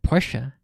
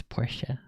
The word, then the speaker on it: Porsche: else pronounce it, but in my mind it was always pronounced Porsche. And then all of a sudden, recently, when I'm on a YouTube video or a stream, people pronounce it Porsche. And I'm like, has my entire life been a lie? What the heck? It's Porsche. Yeah, I guess I just